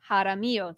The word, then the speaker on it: Jaramillo: Jaramillo.